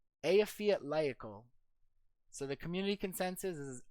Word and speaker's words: Eyjafjallajökull: Eyjafjallajökull. Eyjafjallajökull. So the community consensus is Eyjafjallajökull, Iceland, place in Iceland that we looked up here.